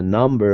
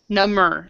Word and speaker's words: numb: I know after a number of injections my J got number number so the in this word the B is silent so so basically when